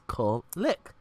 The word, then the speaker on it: Kulik: I can see it, but like where I see Kul then lick, that's how I pronounce it. It's Kulik.